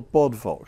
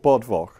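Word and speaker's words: Bodvoc: a guy here called Bodvok. Actually, that V wouldn't be pronounced like a V, it'd be pronounced like a U. So it'd be Hic Yachit Bodvok. Yeah, Boduk, something like that.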